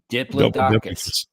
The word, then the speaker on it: Diplodocus: It's not that hard. It sounded it out. That's how it looks. That's phonetically. Really, with the sound it out. That's where you're going with that. There's a. Never mind. Yeah. There's a die and there's a plod.